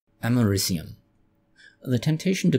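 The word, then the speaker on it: americium: Source we are using aminium aminium how is it pronounced amarum or amarum ah yes amarum the temptation to call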